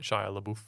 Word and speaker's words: Shia LaBeouf: was ever on the set, like first scene, Shia LaBeouf.